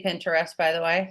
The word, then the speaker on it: Pinterest: do you guys say Pinterest by the way say Pinterest Pinterest Pinterest like interest but with a p Pinterest because I say